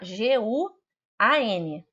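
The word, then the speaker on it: guǎn: G-U-A-N. G de gato, U-A-N. N de não, tá? Guan, assim que se pronuncia, terceiro tom.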